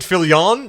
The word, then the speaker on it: Fillion: Is it Fillion?